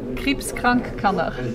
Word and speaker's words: Kriibskrank Kanner: Fondation Krebskrank-Kanner. Krebskrank. Voilà. Voilà. C'est pas mal. Pas mal. Et donc, est-ce que vous pouvez nous expliquer en quoi elle consiste? Oui, donc la Fondation Krebskrank-Kanner aide les enfants atteints d'un cancer Ok, ou